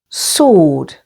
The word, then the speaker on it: sword: And with S or T in these words. Answer, stress on the first syllable. Answer. Sword.